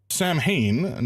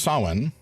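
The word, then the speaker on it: Samhain: Uh ah Sam Hayne not pronounced like that approximately pronounced as sawen is a Gaelic festival.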